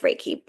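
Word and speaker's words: Reiki: to find a local re is it raik raik oh yeah yeah yeah you're saying it right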